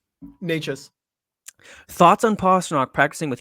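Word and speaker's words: Nečas: Is it Necas? Necas.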